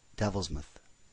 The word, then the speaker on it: Devilsmouth: was aptly named though the owner softened the truth of it by pronouncing it Devils myth using the same reasoning that one pronounces Dartmouth University Dartmouth but knew better he